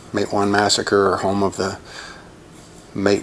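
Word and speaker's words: Matewan: of my hand so this one is pronounced mate one good old mate one mate one massacre home of the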